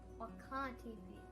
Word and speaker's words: Wakan Tipi: Bedote Learning Center, to teach us how to pronounce the name of this sacred site. Wakan Tipi.